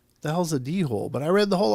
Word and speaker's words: dhole: e and I was like the hell's a dhole but I read the whole article saying de hole and then I came to find out later